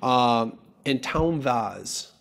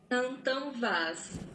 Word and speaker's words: Antão Vaz: Antão Vaz.